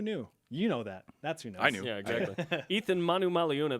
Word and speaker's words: Eathyn Manumaleuna: Eathyn Manumaleuna, that's how you say his name, is on BYU Sports Nation. Did I say it correctly? Yeah.